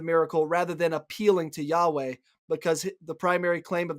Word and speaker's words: Yahweh: in the Old Testament, it is the Hebrew word Yahweh. Now, we don't know how to pronounce it exactly. That's our best attempt.